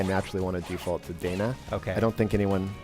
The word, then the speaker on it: Dana: and thank you for that is that I mispronounce the name of the game and it's lacrimosa of Dana not Donna here's the thing so here's the thing technically